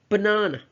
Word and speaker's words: banana: We have the word banana, right? Banana. So the first and last syllables are schwa, which means they are almost unheard or silent.